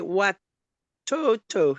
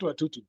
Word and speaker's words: watoto: Watoto. Yeah. Yes, watoto, not watutu. Watoto. Watoto.